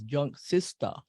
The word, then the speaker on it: Junksista: gonna pronounce that right the way that we pronounce it in Hawaii is junk sister and I I was